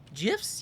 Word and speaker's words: GIFs: GIFs? Yes, with the soft G. It's the only way to pronounce it.